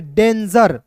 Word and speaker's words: danger: GER को पढ़ेंगे दोस्तों जर, इसे गौर नहीं पढ़ेंगे जर, क्योंकि जी का उच्चारण कभी कभी हम लोग दोस्तों ग के रूप में भी करते हैं, कभी कभी ज के रूप में करते हैं। तो यहाँ पे दोस्तों याद रखना है, यहाँ पे ज के रूप में उच्चारण करना है, तो DANGER डेंजर।